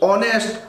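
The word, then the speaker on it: honest: এ ব্যবহার করবেন, কিন্তু যদি এইচ না উচ্চারণ অনেস্ট আওয়ার এরকম উচ্চারণ হইত তাহলে আমরা কি বসাইতাম, ওর জন্য এন বসাইতাম।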